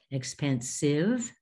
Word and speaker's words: expensive: Expensive, it's sive, not saiv.